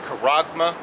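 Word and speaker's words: χάραγμα: mark lifted up Strom's g54 80 and the pronunciation is Kurama and the meaning is a stamp or an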